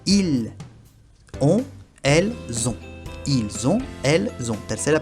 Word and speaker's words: ont: O la última t al final no se pronuncia y el o n es muy nasal.